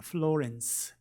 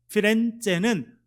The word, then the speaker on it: 피렌체: 피렌체라기도 하고 영어식 발음은 플로렌스입니다. 플로렌스. 피렌체는 꽃이라는 뜻입니다.